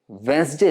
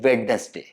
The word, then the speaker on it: Wednesday: वेंसडे इज the correct pronunciation, but ज्यादातर लोग इसे बोलते हैं वेडनेसडे।